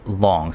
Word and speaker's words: long: Four long. So I've been saying loong, which never sounded right, but I think I will now adopt long. as the correct pronunciation, but he's saying there's 4.